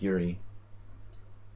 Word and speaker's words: Jiří: How do you say that? Yuri? It's like Yuri.